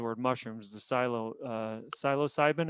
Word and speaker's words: psilocybin: mushrooms the silo uh psilocybin is that how you pronounce it you were a biological yeah but yeah i'm no longer a body maker so you know so there you go yeah i think that that looks right i think you did pronounce it right yeah so it's a